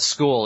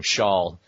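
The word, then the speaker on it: Scholl: But School is obviously a play on my last name, Shawl, which is frequently mispronounced as School.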